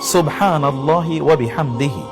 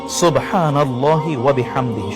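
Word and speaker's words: سبحان الله وبحمده: সুবহানাল্লাহি ওয়াবিহামদিহি। সুবহানাল্লাহি ওয়াবিহামদিহি। শুদ্ধ করে বলুন। সুবহানাল্লাহি ওয়াবিহামদিহি। সুবহানাল্লাহি সিন এর উচ্চারণটি শুদ্ধ যেন হয়।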